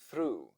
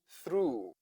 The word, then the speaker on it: through: h might sound O So through o u g h o u h o o o o through Bo o u g